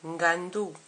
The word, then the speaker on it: ngando: nakou nakou la maison n combiné à G donne NG NG comme dans Ngando le crocodile n combiné